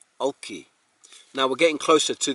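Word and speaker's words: Golchi: Now, if I read it as it looked, it would be Gulki, but which means to wash, to clean, and it's spelt G-O-L-C-H-I. In place names, the initial G is usually dropped when written, so it would sound like this, Olchi, Olchi.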